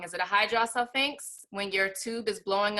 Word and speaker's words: hydrosalpinx: Is it a hydrosalpinx when your tube is blowing up with fluid? That's so exactly that's right. what did you say? That's exactly right, hydrosalpinx.